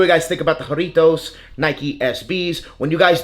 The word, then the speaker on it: Jarritos: but I was informed you do of course pronounce the h instead of a j so that J is silent corritos and then roll your r's when you speak it so joritos you gotta roll your a little bit not too much but a little bit in Spanish so hey let me